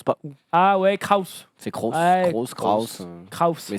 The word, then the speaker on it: Kroos: Je sais pas, c'est écrit comment? Je crois que c'est Kroos.